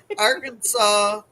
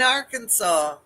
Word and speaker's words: Arkansas: Arkansas. In Arkansas, you must pronounce the state name correctly. You can't say Arkansas or Ark, cactus hugging. Yeah. You have to say Arkansas.